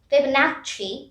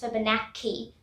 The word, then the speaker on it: Fibonacci: Now here I want to emphasize, here the CC section is pronounced as CH. Fibonacci sequence. It's not pronounced as Fibonacci. That's wrong. I also, when I practiced first, I said key, but then I found out it was chi.